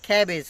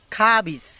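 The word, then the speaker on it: cabbage: আমরা বলি ক্যাবেজ, ক্যাবেজ অর্থ কি বাঁধাকপি, কিন্তু না, এখানে ওরা বলতে ক্যাবেজ না, খাবিজ, এখানে খাবিজ বলতেছে, কিন্তু আমি বলি এটা খাবিজ, খাবেজ বলি আমি, কিন্তু এখানে বলছে কি খাবিজ।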